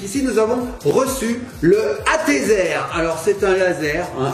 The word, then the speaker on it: ATEZR: Mais non, là c'est ATZer, là, vous avez la marque ici je crois. Attention, ça s'écrit A-T-E-Z-R.